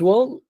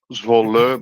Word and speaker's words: Zwolle: So this is Kart Centrum's Wall. Is that how you pronounce it? Zwolle, but you came really close, so no worries about that. Zwolle.